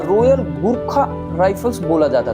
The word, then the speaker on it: गोरखा: बोला जाता था, लेकिन भारत ने इसमें रॉयल को हटा दिया और गुरखा में यू की जगह ओ कर दिया, जिसे इसकी सही प्रोनाउंसिएशन माना जाता है। और इसकी प्रोनाउंसिएशन अब क्या हो गई, गुरखा की जगह गोरखा हो गई।